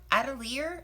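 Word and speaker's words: atelier: a um silver um adelier I think is how you say it a-t-e-l-i-e-r squirrel Bland quill pen and it is a size 40.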